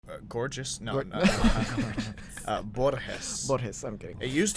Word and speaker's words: Borges: and my ancestors before me, I decided to pronounce it the correct way. Borges. Borges.